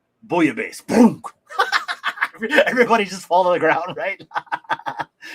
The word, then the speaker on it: bouillabaisse: Bouillabaisse.